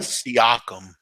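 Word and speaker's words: Siakam: Pascal syum s AI k m am I pronouncing that right seum yeah uh New Mexico state New Mexico state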